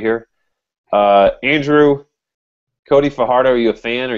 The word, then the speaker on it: Fajardo: He pronounces it both ways. We discussed in pre-show. I guess technically it's Cody Fajardo, but he just kind of deals with it.